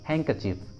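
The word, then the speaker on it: handkerchief: Silent D का second rule होता है, कुछ कॉमन वर्ड्स के साथ डी को प्रोनाउंस नहीं करते, डी साइलेंट होता है। For example हैंकचीफ, हैंकचीफ, हैंकचीफ, handsome, handsome, handsome, sandwich, sandwich, sandwich, Wednesday, Wednesday. देखिए इन सभी वर्ड्स में डी साइलेंट है, डी का उच्चारण नहीं किया गया है।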